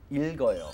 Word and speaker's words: 읽어요: Remember, there are two consonants in this, the L and there's a G. You know the word bulk in American, in English actually? You pronounce both of those consonants by right. saying bulk, right? That's how it goes in reading. 읽어요, 읽어요.